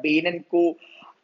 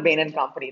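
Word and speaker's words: Bain & Company: actually, look, you know, this is people talk about Bain and Co. I don't know, like it should be, you know, Bain and Company.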